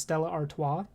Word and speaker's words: Stella Artois: But I really like Stella Artois. You know, people... That's actually how you say it. You see the Stella commercials. It's actually pronounced Stella Artois.